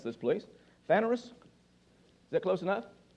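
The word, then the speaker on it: φανερῶς: word openly lance help me pronounce this please vanerus is that close enough phanerous is how it's pronounced it's number 53 18 in the strong's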